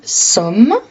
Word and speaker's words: sommes: Donc, comme je vous avais dit, somme, il y a un S à la fin, mais on ne le prononce pas.